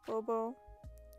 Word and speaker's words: Bow Bow: But usually just prefer Bobo, the two bows together. Spelled like the hair accessory bow, not like the name bow, which is silly because it's what I go by.